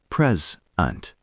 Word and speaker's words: present: Present. Gift. Pronounced pres-unt. Stress on first. Now pause and repeat present 5 times. Shadow. I have a present for you. Now pause and repeat the sentence 3 times. Present. To show. Pronounced present. Stress on second.